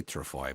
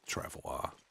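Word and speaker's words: travois: I say trafoy, but it it's travoir. I believe you say it like if it was French.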